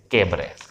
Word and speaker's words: cabaret: Spelling है CABARET, ये silent है लेकिन लिखते हैं इसे कैबरे।